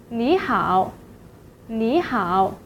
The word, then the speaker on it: 你好: But then the word you should be pronounced as the third tone 你. However, because of the two-third tone rules, the first syllable is changed to the second tone. So 你 will be pronounced as 你 in this situation.